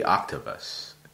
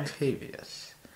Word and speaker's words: Octavius: So there's an extra I in there. It wouldn't be Octavus. It's right. Octavius.